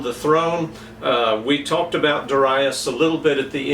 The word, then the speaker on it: Darius: how to pronounce that my two major bible encyclopedias they give a pronunciation of Duras and so i pronounce it that way and we need to